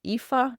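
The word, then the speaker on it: Aoife: Her name is EA. It is spelled AO I f.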